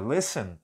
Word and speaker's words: listen: e um n lessan o t da palavra Listen é sempre mudo senão vai pronunciar esse ter aqui nunca Ok então